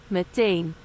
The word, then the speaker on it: meteen: I think I constantly mispronounce that one. Meteen. Meteen.